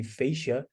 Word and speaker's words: fascia: shath or fascia and this is the correct anatomical word the fasia that it pronounce fasia and yes so we